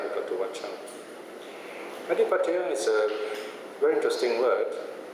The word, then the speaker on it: Ādhipateyya: Ādhipateyya is a very interesting word. The Thais pronounce it as att'ādhipateyya.